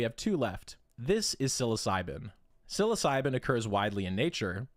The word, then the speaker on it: psilocybin: Even though psilocybin sounds like it starts with an S, it doesn't. It starts with a P.